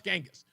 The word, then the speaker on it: Genghis: Gangghis Khan I was like how do you pronounce it like is it Genis or Genis she goes no it's Genghis but they're celebrating all of his triumphs and